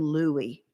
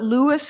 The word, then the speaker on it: Louis: Nobody but white people who didn't know him called him Louie. So, today I'll be using the names he preferred.